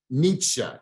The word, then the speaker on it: Nietzsche: to say his name one more time Nietzsche Nietzsche and all right German right Nietzsche all right